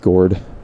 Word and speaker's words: Gordes: I believe it's pronounced Gord. It's spelled Gordes.